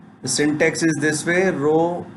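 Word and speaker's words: rho: So rename operator is denoted by the row, which is pronounced as the row, and this is used to change the name of relation and relation attributes.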